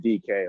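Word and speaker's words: Dike: And Margaret, just I guess for the good of the order, it's spelled D-I-K-E, but my name is actually pronounced D-K, like the initials.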